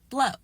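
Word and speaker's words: Blaauw: And then his parents come over and even though they're speaking English they pronounce it as Blow. And he said, "Well, yeah, that's the Afrikaans pronunciation of it, but when you're speaking English I think you can just pronounce it in English."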